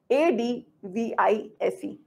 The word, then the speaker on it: advise: v i c e a d v i s e reference advice is a z advice advise correct I hope you're getting my pronunciation right the advice it's a noun advice is a noun a piece of advice